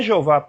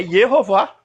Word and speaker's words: Yehová: Para o alemão não é Jeová a transliteração, é Yehová.